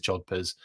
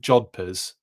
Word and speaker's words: jodhpurs: Yeah, okay, it is Jodhpurs. And it's spelt that way, Ryan. Okay, got it. I was right with Jodhpurs.